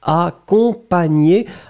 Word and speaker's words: accompagné: Phonetically, you wrote it extremely good, Ice Cubes, but remember this nye nye sound in French, in most of the cases, it will be GN. Nye nye nye. Remember. Accompagné.